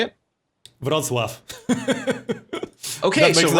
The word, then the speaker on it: Wrocław: Oh, Wroclaw just got settled. Or Wroclaw, how do you say it? Wrocław.